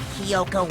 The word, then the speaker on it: Kyoko: stabs so that's what kyoko wanted to show everyone huh i've been calling her kyoto this whole time kyoko wow i literally i'm sorry chad and everyone watching i'm pronouncing her name wrong this whole entire that